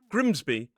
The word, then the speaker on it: Grimsby: But when it is a suffix at the end of a place name, it's pronounced B. So we have Derby, Grimby, and Whitby.